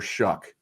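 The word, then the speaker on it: Shough: I'll be curious to see what he looks like with Tyler Shuck, which rhymes with suck.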